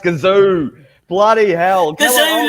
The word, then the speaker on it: Gazoo: It's pronounced gazoo. Bloody hell. Kazoo like a kazoo. No, you pronounce it like the Japanese pronounce it because they obviously, the Toyota people that pronounce it.